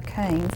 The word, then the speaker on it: Cairns: And it takes place in Australia, in the Queensland of Cairns, or Cairns, I think is how it's actually pronounced.